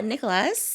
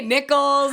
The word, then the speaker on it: Nikolas: I mean, we just met, but today we have on Alexa Nikolas. Mm-hmm. Hello. You said it right. I know. Some people say Nichols, and I'm like, wait, I've been saying Nichols too.